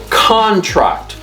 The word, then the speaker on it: contract: here's here's another one when it's anoun this actually means a written agreement so when it's it's contract contract okay that's a noun now when it's a verb guess what happens it the the stress is on the second syllable now it's contract contract